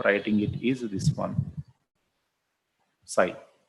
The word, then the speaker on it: psi: Psi, the way of writing it is this one, psi. So reading is psi, but the spell is psi. So P is silent, psi we use that.